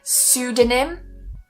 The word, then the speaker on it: pseudonym: Some other words that don't quite fall into this P sy category, but they do have a silent P at the start are pseudonym. Pseudonym. Something to also mention is that sudo is a prefix. So any word that starts with this pseudo will always be pronounced pseudo.